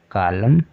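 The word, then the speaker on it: column: भी N silent है क्योंकि वर्ड के अंत में एम के बाद आया हुआ है इसलिए एन साइलेंट है ठीक है तो डैम कॉलम ऑटम सोलम इसको इस तरह से हम पढ़ेंगे चलिए आज के लिए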